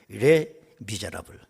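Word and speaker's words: Les Misérables: 이 레 미제라블, 이 레하고 띄어서 발음을 해야 돼. 레 미제라블.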